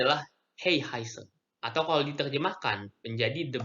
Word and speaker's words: 黑孩子: Jadi ini cara bacanya adalah Hey Heiser. Atau kalau diterjemahkan menjadi The Black Child. Apa itu Hey Heiser? Jadi Heihaise adalah anak-anak atau penduduk di Cina yang keberadaannya itu tidak diakui oleh pemerintah Cina.